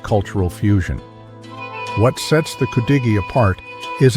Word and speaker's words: Cudighi: Pronounced Cudighi, this sandwich traces its roots back to the early 20th century when Italian immigrants settled in the area's mining towns.